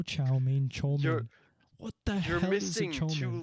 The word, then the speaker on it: chow mein: in his step right they don't say chow mein they say chomin no because in our